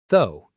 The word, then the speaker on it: though: A lot of learners try to say every letter, but it's actually very short. Though. Almost like the word go, but with a th sound.